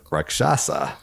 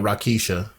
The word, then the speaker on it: Rakshasa: Bonus points for pronouncing that correct. I have some friends who are calling it Rakisha.